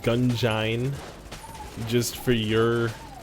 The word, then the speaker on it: Gungeon: like it's an it's like an engine so it's technically I I'll probably phonetically say it gun join just for your spelling